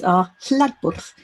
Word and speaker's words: hlaðborð: to this 24-hour event so we call this areb which also we're all trying to pronounce correctly in Icelandic so in Icelandic that